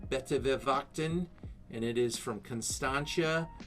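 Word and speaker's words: Buitenverwachting: It's correctly pronounced Betewewachten, and it is from Constantia, right on the ocean of South Africa.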